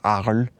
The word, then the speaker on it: Arles: My French is probably awful, but I think in the French it's pronounced Arles.